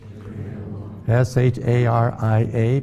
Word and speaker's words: Sharia: S-H-A-R-I-A, pronounced Sharia.